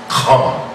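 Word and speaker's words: חם: We know in Hebrew the word is pronounced Kam, which only means what?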